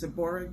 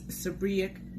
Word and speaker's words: seborrheic: dermatitis AKA SD um it's been pronounced as seborrheic dermatitis and you know but it's supriac dermatitis SD right what is